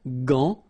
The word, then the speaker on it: gant: Remember, G-A goes like ga. Okay, g. But in that case, you've got this an, so it's nasal, gant, and then final T is not pronounced here.